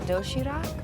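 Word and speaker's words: 도시락: of neatly packed food it's called doshirak yes uh am i pronouncing that right you're very good you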